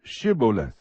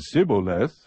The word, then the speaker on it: shibboleth: would say to him say now shibboleth but he said sibboleth for he could not pronounce it correctly Then They seized him